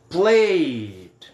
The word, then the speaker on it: played: O ED vai ficar com o som de D, então vai ser played. Repete comigo aqui, ó. Played. Played. Esse E fica mudo, né? Eu vou do Y direto para o D.